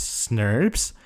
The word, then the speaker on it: snRNPs: with proteins called small nuclear ribonucleoproteins, snRNPs, often pronounced as SNRPs, form a special structure called spliceosome that is responsible for the process.